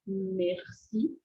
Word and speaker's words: merci: sonzinho do Merci Merci esse sonzinho do R é como se ele ele ele usa bastante esse sonzinho da da nossa cavidade bocal e você pode fazer um som similar É como se você tivesse fazendo um um Ah gargarisme um gargarejo acho que é isso em português um gargarejo